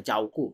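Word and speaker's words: 照顾: থাকলে জর মত অনেকটা জাউকু চাউকু ইংরেজিতে জেড এস থাকলে ঝ উচ্চারণ হয়ে যায় কিন্তু চাইনিজ ফিনিনে ঝেড এস থাকলে চাউকু চাউকু চাওগো মানে কি দেখাশোনা করা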